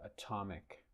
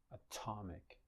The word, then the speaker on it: atomic: of syllables atomic look in the word atomic the Tet is not word initial but is syllable initial okay and it is aspirated atomic atomic so it should be